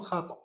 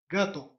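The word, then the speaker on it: gato: وراءها أ أ أ، لاخي وراءها أ أ، خينيرو وراءها أي، غاتو نعم، حمد عبد الجليل، غاتو غاتو، إت، غاتو، لا نقول خاطو، غاتو.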